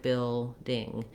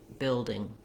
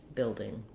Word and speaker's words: building: I don't want it to sound like bill, ding. You can hear how it doesn't sound natural. It has first syllable stress, so I'm going to hold longer on that first syllable, bill, and then my ding is just going to be very short, building, building.